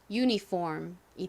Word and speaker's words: uniform: 미국식 원어 발음은 이 FOR에 for 발음을 하다가 이 R이니까 혀를 이렇게 뒤로 꼬부리셔야겠죠. for 발음하다가 입을 할 때 그 모양으로 닫아줍니다. 그러면 uniform이 되죠. uniform.